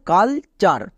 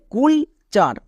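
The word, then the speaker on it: culture: করে দিচ্ছি যেমন দেখো কালচার একে অনেকে ভুল করে উচ্চারণ করে কুল চার কেন সি ইউ এল কুল টি ইউ আর ই চার কুল চার বাট এর উচ্চারণ হবে কালচার ইউ এর জন্য আকার হবে কেন এর ক্ষেত্রে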